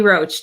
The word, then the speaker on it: Roach: say your last name it's just roach just like the bug roach i saw something with